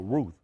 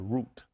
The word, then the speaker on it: Rut: They call Ruth. It's actually pronounced root. Y'all got like R O T. R O O T. They put a r U t. So the oo makes the double o sound.